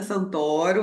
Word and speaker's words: Santoro: sílaba aqui então eu sou a Santoro é aberto lá na apresentação estava certinho e descendência do sobrenome é italiana falando um pouquinho de